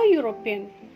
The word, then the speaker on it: European: Here, a European. Though the spelling starts with A means vowel, the pronunciation is of consonant. It is year.